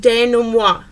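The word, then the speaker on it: dénouement: about is very fancy it's a French term and it looks like development but it is pronounced Dana moi Dana moi really is that last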